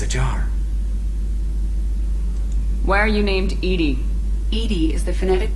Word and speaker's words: EDI: the airline is ajar why are you named ed ed is the phonetic pronunciation of Ed I that is an acronym